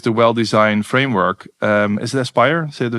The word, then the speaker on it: Aspire: So for instance, if you now use the well-designed framework, is it Aspire? Do I say it correctly? Aspire, yeah.